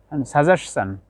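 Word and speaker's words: suggestion: ইএসের পরে টিআইওএন আসলে, টিআইওএন যদি ইএসের পরে আসে, শেষে যদি থাকে, তখন তার উচ্চারণ চান হবে। যেমন কোয়েশ্চন, কোয়েশ্চন, কোয়েশ্চন। ডাইজেশন, কোয়েশ্চন প্রশ্ন, ডাইজেশন হজম। সাজেশন, সাজেশন, কোয়েশ্চন, সাজেশন, ডাইজেশন।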